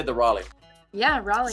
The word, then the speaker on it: Raleigh: Did I say the Raleigh?